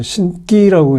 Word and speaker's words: 신기: 보통 이제 한문은 귀신 신체의 기운 기자 써서 신기라고 읽어야 되지만 보통 발음할 때는 덴 발음을 하죠 그래서 신기라고 이제 발음을 하는데 보통 우리가 신기 그러면 불가사인한 어떤